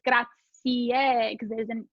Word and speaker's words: grazie: gratier and yeah so in italian you have to pronounce every letter as you see it right so americans want to pronounce it grazie right just the e at the end but it's gracie because there's an e